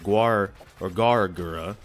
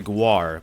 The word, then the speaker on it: Gawr Gura: Instead of Gawr Gura, I used to say Gawr, put the W in front, and then no one would correct me for a while, which was weird.